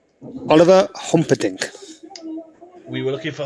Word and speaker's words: Humperdinck: humperdinck there you go that's his name oliver humperdinck we were looking for hom-podink oliver i mean you guess the